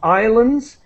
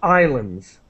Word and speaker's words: islands: with the pronunciation of islands we never pronounce the S the S is completely silent so Islands Islands okay and a